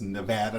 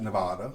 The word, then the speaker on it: Nevada: It's Nevada, not Nevada.